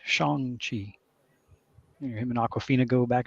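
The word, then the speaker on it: Shang-Chi: whole scene dedicated to how say his name it's Shong Chi him and Aquafina go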